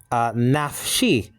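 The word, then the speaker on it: נַפְשִׁי: Actually is nafshi. Nafshi. You got the noon, you got the pathach, so that's na. And then you have a pay with the schwa underneath it, making it one syllable, naf.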